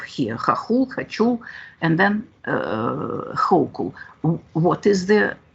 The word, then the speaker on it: Hochul: Let's prove that it's a good pronunciation. We have here Хохул, Хачул, and then Hochul.